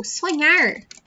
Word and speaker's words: sonhar: So, sonhar is to dream. Pay attention here to that sound I told you. These two letters together sound like nh, nh. Sonhar, sonhar.